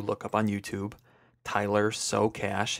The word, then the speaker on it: Socash: up on YouTube, Tyler Socash, his last name is spelled like the words Socash.